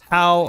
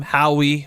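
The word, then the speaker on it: Howe: That was how, I believe it's pronounced. Yeah. How, I've been corrected multiple times. I always call him Howie, but it's How.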